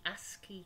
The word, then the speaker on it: ASCII: Now Unicode character set includes the ASCII code character set. A-S-C-I-I is pronounced ASCII.